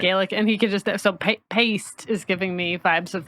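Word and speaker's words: péist: How do you spell that? P E with an accent IST, paste. Paste.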